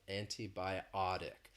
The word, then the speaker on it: antibiotic: quickly so you've noticed I've been saying antibiotic the stresses on that fourth syllable antibiotic now I've been saying